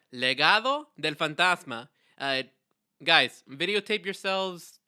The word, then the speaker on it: Legado del Fantasma: and what else but let's give them a little Spanish lesson to help him out right you want to start off okay so how do we pronounce it man it's called legado Del fantasma all right legado Del